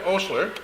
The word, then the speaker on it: Osler: Sanford Osler, that's how you pronounce his last name, in case anybody's wondering,